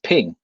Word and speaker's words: PNG: specific it says that they're pronounced ping they're called ping files and that ones there's